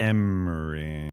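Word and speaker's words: Ermey: the guy Full Metal Jacket Emory Emory Arley Emmery he was the famously the he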